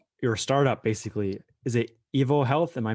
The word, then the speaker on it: EvoHealth: into uh your your startup basically is it evil health am i pronouncing it right yes you are yes so